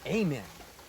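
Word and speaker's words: ἀμήν: Some people might even say amen. But in Greek, this is actually pronounced amen. The emphasis is on the second part of the word.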